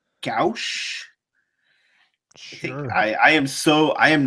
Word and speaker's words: gouache: No, I'm talking about the art style, which to me it looks like it says Gucci, but it's not. That's obviously not it. It's Gouache. Gouache.